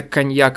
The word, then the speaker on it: cognac: Ну, типа, GN-то она же как «н» читается, как там что-то не межзубное, а носогубный звук «н». Коньяк.